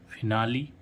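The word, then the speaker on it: finale: क्या कह रहा है लेकिन कुछ गिने चुने शब्दों में ई अंत में आने पर इस इ का उच्चारण इ होता है तो वो गिने चुने जैसे एफ आई एन ए एल ई फिनाली यहां पर हम एल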